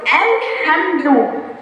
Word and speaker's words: الحمد: وعملنا بقى في التوسط الحمد. عس الرحمن، سمعت صوت اللام؟ لا، قلت الرحمن، اللام واحدة خالص وما نطقناهاش، صح؟ ايه السبب؟ الحمد لام قوية مظهرة، أي هنطقها وهعمل بقى في التوسط.